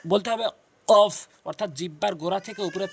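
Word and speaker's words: كاف: এভাবে উচ্চারণ করবেন। এরপর রয়েছে হচ্ছে কাফ।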